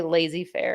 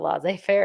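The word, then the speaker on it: laissez-faire: school teacher that would he would always say lazy Fair instead of L fair and so now I mispronounce it all the time uh is so would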